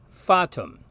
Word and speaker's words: fatum: It's just ah. You can hear the same sound in the Latin word for fate, by the way, which is fatum.